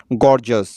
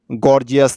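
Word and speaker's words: gorgeous: উচ্চারণটি ভালো করে লক্ষ্য করুন, গর্জাস হবে, গর্জিয়াস না কিন্তু গাইজ।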